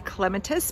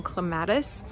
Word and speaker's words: clematis: my clematis Montana or if you're British or pronounce it properly you will say clematis but I was raised in clematis my neighbors are cutting